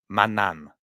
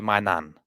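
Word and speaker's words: Maignan: you pronounce his name the G should be a silent G in his name so Manan so you don't say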